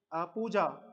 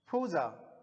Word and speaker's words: पूजा: इसी प्रकार किसी का नाम है जैसे पूजा, तो पूजा को, जो पूजा हम प्रोनाउंस करते हैं पूजा को क्या? पूजा। लेकिन जो फॉरेनर्स होते हैं वो इस वर्ड को प्रोनाउंस करेंगे फूजा।